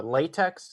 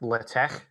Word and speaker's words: LaTeX: how you pronounce this um this isn't uh latex you don't pronounce this latex like the uh like the material the way i pronounce it is latex i've i did a little bit of research